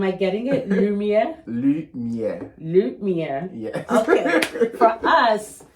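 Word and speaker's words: lumière: lumere lumier am I getting it lumier lumier lumier yes okay for us it's loose light loose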